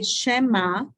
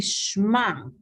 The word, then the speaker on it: Shema: my uh foreign so some people say Shema Shema because then they say that this is a short a Shema but since we can blend it it's supposed to be Shema so then it is